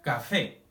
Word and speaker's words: café: Por ejemplo, café. ¿Sí? Pronunciamos más fuerte el fe.